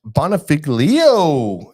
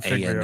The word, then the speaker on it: Bonfiglio: Hey, we got Josh Bonifiglio. Hey, am I saying it right? I think you're Bonifiglio. putting an A in Bonfiglio. there. Yeah, you Bonifiglio. added some vowels.